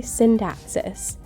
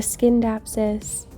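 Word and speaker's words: Scindapsus: but it is a synapsis not a SK dapsis a synapsis um C's in Latin are usually pronounced as s's so you kind of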